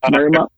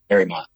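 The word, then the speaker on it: Mariemont: Community Church it's located in the village of Marmont. How do you say that? I think that's right. Marrymont. Marrymont. Marrymont.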